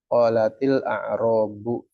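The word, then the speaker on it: قَالَتِ الْأَعْرَابُ: Sedangkan bacanya harus terus lanjut, nggak diputus. Kalau dua sukun jadi putus. Qolat al-a'rab, maka orang Arab membuat caranya dia ngucapinnya dengan kasroh. Qolatil a'rabu, ya kan ini dia harokat ya di sini.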